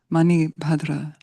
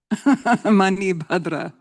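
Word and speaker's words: Manibhadra: Mani Badra. M A N I B H A D R A. Let's say her name. Mani Badra. Mani Badra.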